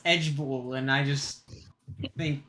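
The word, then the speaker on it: IJBOL: b o l i j b o l pronounced edgeball which stands for I just burst out laughing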